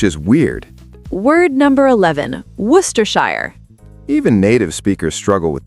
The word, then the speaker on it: Worcestershire: Word number 11, Worcestershire.